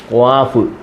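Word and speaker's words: قاف: വ്യത്യാസം അതിന് അർത്ഥത്തിന് വ്യത്യാസം വരും അന്നേരം ഇത് പറയേണ്ടത് ക്വാഫ് ക്വാഫ് ക്വ ക്വ ക്വ ക്വ ക്വ ക്വ ഡാല്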